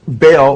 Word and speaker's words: Baal: says and then uh baal or he says bell b-e-l or ba all he spells it b-a-a-l how the bible spells baal or baal it's pronounced in hebrew uh which is the